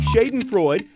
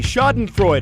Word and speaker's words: schadenfreude: Pleitgen CNN Reykjavik Iceland what is the correct pronunciation of this word is it a Shaitan Freud be schadenfreude I see shot and fruit or ditch not in Friday the answer is B schadenfreude a-- a german term for when someone laughs